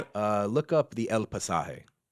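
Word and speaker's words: El Pasaje: El Pasah.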